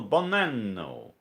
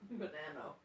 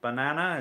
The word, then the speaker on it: Bonanno: It's Bonanno. Did I say it right now? It's like banana with an O at the end. Bonanno. Banano. It's not banana, it's banano. Not banana, it's banano.